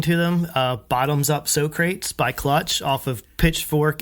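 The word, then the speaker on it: Socrates: Uh, Bottoms Up So Crates by Clutch off of Pitchfork and Lost Needles in 2005, of course.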